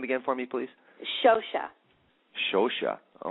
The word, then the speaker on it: Scioscia: It's Scioscia, but it's a difficult name to pronounce.